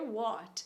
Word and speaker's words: what: Pois é, esse T que a gente carrega no final da palavra, né, de what, vai sumir.